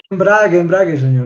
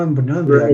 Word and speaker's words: embrague: embrague, señor. No embriague.